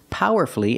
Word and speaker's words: powerfully: We also practice with these words, powerfully and mercifully. Again, you have two syllables before F-U-L-L-Y, and the stress is on the first syllable, so the U is silent.